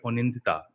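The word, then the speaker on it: Anindita: The trailer is looking amazing, and we have with us, first up, Onindita. Have I got your name right? Onindita is the right pronunciation for it.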